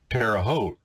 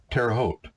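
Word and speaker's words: Terre Haute: said I grew up near a place called terot he said what I said that's French words he said well no he said say it again I said terot he said how do you spell it I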